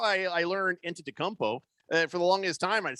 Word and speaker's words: Antetokounmpo: Because that's how I learned Antetokounmpo.